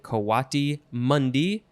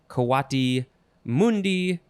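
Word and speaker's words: coatimundi: Let's see, so you could say Kwati Mundi, Kwati Mundi, yeah, all those variations.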